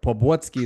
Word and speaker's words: Poblocki: Poblocki from Poland. I knew the Poland part. Correct. Poblocki is correct, all right?